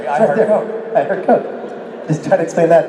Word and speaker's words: KOC: It's KOC. It's Kings of Con. I pronounce it Coke. That's one man's pronunciation.